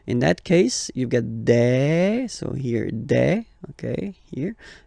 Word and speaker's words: des: All right, here s you pronounce it like e. Okay, un, une, des.